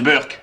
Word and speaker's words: Berk: le Berk je suppose j'aiécrit Berk mais ça se prononce Burk le Burk attention tout